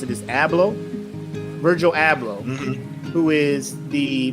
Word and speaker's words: Abloh: So if you don't know Virgil, I believe how you pronounce it is Abloh, Virgil Abloh, who is the mastermind behind the Off-White.